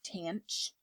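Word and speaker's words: tanh: And then we have tangent, which in hyperbolic is tanch.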